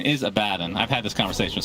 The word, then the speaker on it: Abaddon: The correct pronunciation is Abaddon.